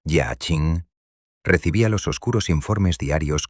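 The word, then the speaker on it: Jiaqing: Mientras tanto, en la lejana, amurallada y sumamente opulenta ciudad prohibida de Pekín, el todopoderoso emperador de China Jia Qing, pronunciado Jia Ching, recibía los oscuros informes diarios con una creciente e incontrolable ira.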